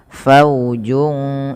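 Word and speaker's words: فوج: Faujun ya. Faujun. Faujun saalahum. Padafal faujun. Di sini ada bacaan ikhfa hakiki yaitu cara bacanya suara junnya samarkan ke huruf sin.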